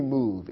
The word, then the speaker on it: move: It ends with a silent E. Although the E is there, we don't pronounce it. We don't say move in English, simply move. It's as if the E wasn't present.